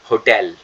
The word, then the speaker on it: hotel: So relatives, the next one, that is hotel.